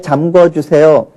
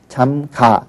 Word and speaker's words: 잠가: 그런데 기본형은 잠그다예요. 그러니까 여기에 아나 어가 결합을 하면 의가 탈락을 하는 불규칙 동사예요. 그러니까 잠궈라고 하는 것은 발음도 잘못된 거고요. 쓰기도 잘못 쓰는 겁니다. 그래서 잠가 주세요. 이렇게 해야 되는 거죠.